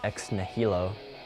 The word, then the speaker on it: ex nihilo: The word X-Nilo, as we spell it, is not the original spelling. It is spelled differently. It is actually pronounced ex nihilo, and it means out of nothing.